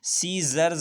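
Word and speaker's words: scissors: Scene है, यहाँ फिर C से पहले S आया है, यहाँ पर C साइलेंट रहेगा। सीजर्स है, कैंची को कहते हैं, कैंचियों को प्लूरल है।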